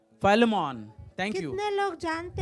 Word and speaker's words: Philemon: Am I pronouncing it right? Philemon.